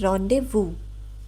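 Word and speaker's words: rendezvous: इट इज़ a noun but we pronounce it ऐज़ रोंडेवू।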